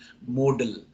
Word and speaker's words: modal: pronunciation um British British but if you check any dictionary you will find that this word model has no alternative pronunciation it has only one pronunciation modal m-o-d-a-l and these models